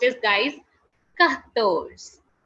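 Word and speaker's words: quatorze: being written down as q-u-a-t-o-r-z-e and it is pronounced as guys ka kattos khattos okay okay after 14 the next number is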